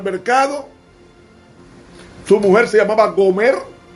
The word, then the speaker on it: Gomer: Era que Dios quería enseñarle al profeta Oseas que así como él buscó a Gomer, que en hebreo se pronuncia Gomer, así como Oseas buscó